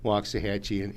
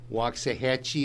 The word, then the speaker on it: Waxahachie: The wax is spoken walks if you say it right, but it's wax to the lax, they've no linguistic might. Hatchie rhymes with Apache, which has never been hard to say, yet after the walks, folks simply lose their way.